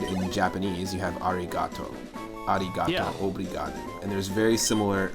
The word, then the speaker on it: obrigado: But in Portuguese, to say like thank you or thank you very much, you say obrigado, which is hard. It's hard for me to even pronounce, but obrigado.